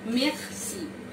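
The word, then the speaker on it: merci: সর্বপ্রথমই আসে মেক্সি, মেক্সি এর উচ্চারণটা হবে এমন মেক্সি, মেক্সি, মেক্সি।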